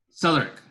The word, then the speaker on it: Southwark: Southwark. How, sorry? Southwark. Okay, sorry. The W is silent. That's English.